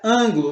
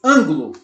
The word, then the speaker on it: ângulo: Então ela é ângulo. Você não diz ângulo, você diz ângulo. Ângulo. Esse an é a sílaba mais forte e então ela está na antepenúltima sílaba, então ela é uma proparoxítona.